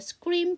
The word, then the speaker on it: screen: 근데 S 사운드 뒤에 C 그 무성음이 나왔으니까 스크린. 아까 스캐너 하는 것처럼.